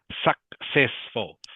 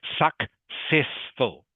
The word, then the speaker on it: successful: Successful. Okay. So, the first C is pronounced like a K, but the second C is pronounced like an S. Okay. Successful.